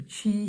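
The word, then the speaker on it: Qi: mentioned the last video the chi shield or key shield it's spelled q-i shield and that is from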